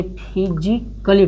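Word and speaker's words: physically: जैसे इसमें है जो फिजिक्सकली, यानी इसको क्या पढ़ेंगे? ए है, ए का LLY के पहले आया है, ए LLY के पहले आया है, तो इसको क्या पढ़ेंगे? फिजिकली पढ़ेंगे।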